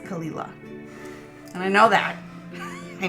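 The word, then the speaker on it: Caol Ila: they look at it they think it says carola because of how it's spelled but it's pronounced kalila and I know that I know that this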